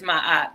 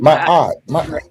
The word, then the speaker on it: Ma'at: People know me as Ma'at because I've been Ma'at.